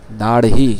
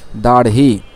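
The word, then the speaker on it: داڑھی: দাড়হি শব্দটা ভালো করে দেখি, উচ্চারণটা আমরা ভালো করে শিখে রাখি। দাড়হি, ইয়া দাড়হি মুন্ডাতে হে,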